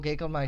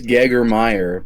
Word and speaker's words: Gagermeyer: Gagermeister. I can pronounce it. It is Gagermeyer, but I appreciate your attempt.